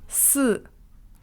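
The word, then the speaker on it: 四: Le chiffre 4, par exemple, il se prononce « si » en mandarin. C'est presque la même prononciation que le mot « mort » qui, lui, se prononce « si » avec un ton juste différent.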